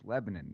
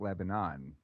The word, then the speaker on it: Lebanon: uh lebanon okay and that's how you say it too it's lebanon it's not lebanon oh yeah yeah i